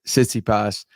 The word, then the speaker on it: Tsitsipas: It's funny how it works, because when you hear him say his name on the website, you hear Tsitsipas. When I heard it, I was hearing more of a T.